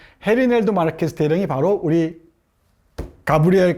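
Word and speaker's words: Gerineldo: 그렇죠 넬도 마르케스 대령 영어 버전 안정의 버전은 게리도 그러는데이지를 해라고 발음해야 되죠 스페인어에서는 헤리 넬도 마르케스 대령이 바로 우리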